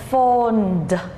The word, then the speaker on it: phoned: Now next, phone cũng tận cùng là the n, phone. So you say phoned.